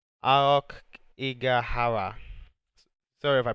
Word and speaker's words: Aokigahara: But the actual name is, so if I pronounce it wrong, it's Aokigahara. Sorry if I pronounced it wrong, but yeah, that is the name of the place Logan has visited.